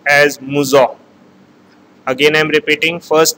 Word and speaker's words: Mousseux: The first term is pronounced as Mousseux. Again I am repeating, first term is Mousseux.